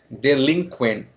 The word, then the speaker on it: delinquent: next is next is delinquent they mean delinquent delinquent so here we can say a stress is at second syllable yeah I LAN yeah LAN delinquent right so it means the